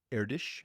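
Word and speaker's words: Erdős: His name is Paul Erdish, I believe is the pronunciation, and basically has a collection of open math problems referred to as the Erdish problems.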